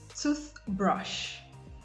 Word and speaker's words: toothbrush: In compound nouns, nouns formed by merging two nouns together, you have the stress on the first noun. Examples: toothbrush, toothbrush, bookshop, bookshop, notebook, notebook, football, football.